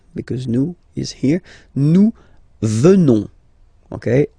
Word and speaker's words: venons: Nous venons. Okay? O-N-S, classical ending for nous. Okay? Final S not pronounced. So O-N, on, venons, venons. Nous venons.